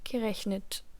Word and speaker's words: gerechnet: Portanto, no caso do particípio 2, com essas terminações de radical, um E é inserido entre o radical do verbo e a terminação T do particípio.